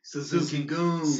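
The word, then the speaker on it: Suzuki-gun: like yeah Suzuki Suzuki Suzuki goons uzuki okay so is it are they miss Suzuki guns I think it's spelt like Suzuki gun but they pronounce my Suzuki goon so you've been it's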